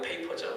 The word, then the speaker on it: 페이퍼: 빼빠가 아니고 페이퍼죠. 샌드페이퍼. 일본식 발음이 이제 빼빠잖아요.